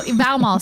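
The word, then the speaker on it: vaðmál: It's called legal cloth or Valmal. Valmal. VAO with a little thing on it. MA with a little thing on it. L. Right. So Valmal seems right. The right pronunciation.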